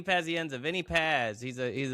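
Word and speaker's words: Pazienza: Uh Vinnie Paserina. How do you say this guy's name? Vy. Vinnie Pazenza.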